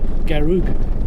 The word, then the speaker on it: Garig: So Garig National Park is about 4,500 square kilometres.